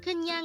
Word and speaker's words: 그냥: which means just because in korean again kunyang is used to say just because this is